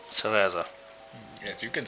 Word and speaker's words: Cereza: Cereza.